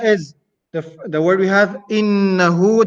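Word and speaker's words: إنه: The first letter is hamzatul qata', so it is always pronounced I, coming from the bottom of the throat. The next letter is noon. Noon has a shadda. It has a tashdid here, so noon will have a ghunna.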